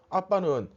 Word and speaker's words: 아빠: 여기서 아빠는 이제 우리말의 아빠가 아니고 이게 아람어입니다. 근데 아람어인데 우리말하고 발음이 똑같아요.